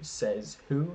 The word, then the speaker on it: Desautels: Schlegel so his chapter is titled Chapter 30 says who that is if you're only listen to that s e Zed it's spelled um says who critical legal history without